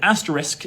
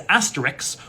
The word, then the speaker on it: asterisk: We often do this in casual speech, like if you've ever pronounced the word asterisk as asterix, or comfortable as comfortable, that's metathesis.